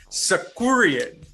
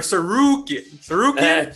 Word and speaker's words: Sarukian: So, on one end, we got Arman Sakurian. Is that how you say it? Or Sarukian? Sarukian, yeah. His last name? Arman Sarukian. It sounds like Hadouken.